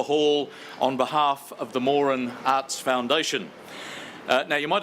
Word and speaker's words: Moran: more an Arts Foundation the family name is pronounced more'n not Moran which we often hear so I hope that